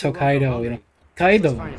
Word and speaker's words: Hokkaido: I like how they they like properly pronounce Hokkaido, you know.